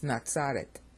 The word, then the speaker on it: Nazareth: Natsar, literally, the right pronunciation. Nazareth means Natzaret.